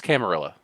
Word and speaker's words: camarilla: that's pretty spot on am I doing that backwards it is a French word not a Spanish word either way it's camarilla stop it fight me